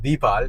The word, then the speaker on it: Deepal: the name in text, we thought it was pronounced Deepal, right? Exactly. I mean, Deepal. You'd Yeah. think there's a bit of an Indian connection there. Yeah. But that's not how it's pronounced, is it, Yeah. Mahen? How It's is not. it pronounced? It's Deepal. Deepal. So, yes, so remember that, viewers. And when you see this vehicle on the road or in the showroom, remember, it's not Deepal, it's Deepal.